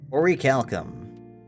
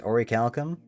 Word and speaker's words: Orichalcum: Do you pronounce the C at the end? Orichalcum? Or check your crafting recipes. How do I check my crafting recipes? Orichalcum. It's Orichalcum?